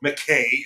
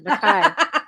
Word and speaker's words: Mackay: I'm actually a member of two different Scottish clans because by blood, I'm a Mackay or Mackay as it's pronounced. Mackay. That's proper Mackay.